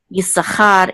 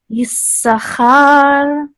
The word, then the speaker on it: Issachar: So Issachar is mercha. So this is Issachar.